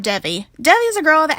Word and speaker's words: Devi: The other character is a girl named Devi, or Devi. I heard her name pronounced as either, I'll just stick with Devi.